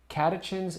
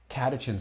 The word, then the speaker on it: catechins: Catechins. I was terrified to say that, but I think I said it right. Catechins, theobromine.